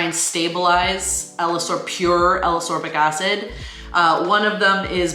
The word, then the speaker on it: ascorbic acid: specifically for up from alas orbic acid it's actually ascorbic acid i'm sorry i mispronounced